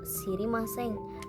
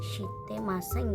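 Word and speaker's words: 知りません: Iye, shirimasen. Nah, untuk contoh soal yang ini minasang sudah saya jelaskan di awal tadi. Apabila ada bentuk negatif dari shirimas, itu tetap diucapkan shirimasen dan bukan shitemasen ya minasang.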